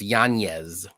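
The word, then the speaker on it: Yanez: still don't like it it's yanes but I'm gonna say Janis because you know what he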